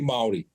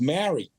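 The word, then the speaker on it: Māori: wasn't cool to be Mari in fact the way that you pronounce Mari was Mary you know and a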